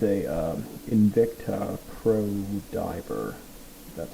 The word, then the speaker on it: Invicta: And this one, it's a Invicta Pro Diver. That's how you pronounce the name.